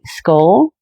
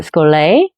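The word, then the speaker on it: schole: We are a skull or skol is how you would pronounce it.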